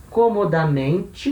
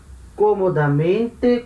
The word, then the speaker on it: comodamente: né, eu prefiro ir comodamente, né, de forma cômoda. Repara, comodamente com esse acento aqui esquisito, que é um acento que cai na quinta sílaba de trás para frente.